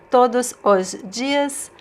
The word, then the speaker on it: todos os dias: Todos os dias, todos os dias, todos os dias. You see, I connect. Todos os dias. And then the S is pronounced as a Z.